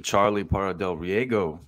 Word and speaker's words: Charlie Parra del Riego: Charlie Parra del Riego.